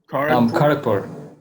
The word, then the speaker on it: Kharagpur: He's an IIT grad from, how do you pronounce that city? Kharagpur.